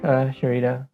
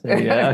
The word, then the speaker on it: Syreeta: Sharita. Okay. I'm from Indonesia, so it's a common name, but it's a different Is it? spelling. Yeah, we Hmm. call it Sarita, Sarita, That's Sarita. how you pronounce it, Oh, Sarita.